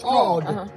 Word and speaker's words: GAWD: The A W is all, like God. And you can hear it, so it's God.